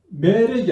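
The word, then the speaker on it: מֶלֶךְ: 그래서 멜렉은 멜렉 이렇게 우리가 발음하지만 이음절 단어이다 하는 것을 여러분 기억하시고 다바르 한번 보자.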